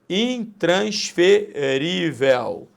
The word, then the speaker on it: intransferível: Intransferível, também paroxítona. Paroxítona terminada em L, L de luta.